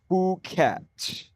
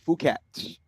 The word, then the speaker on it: Phuket: Blend listener um with the pronunciation. Fuket. F O K. Fuket.